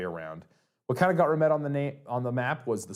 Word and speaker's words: Remette: So Remette, I have found out, is a variation on a word, I want to say it's pronounced Remette. I could be wrong.